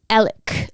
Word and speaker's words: Alex: by Alec like it's it's spelled Alex but you pronounce it like elk what if the lawyer